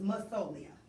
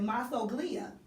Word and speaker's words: Masoglia: But I was pronouncing it Masoglia because of the spelling. So I was using that kind of an English pronunciation, and I'm assuming, are you from America?